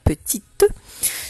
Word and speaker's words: petite: Et oui, il fallait écrire le mot petit, mais avec le E à la fin, parce qu'on entend petite. Souris, on se souvient du mot souris de syllabe, et on fait tout chanter, le S qui est mu à la fin.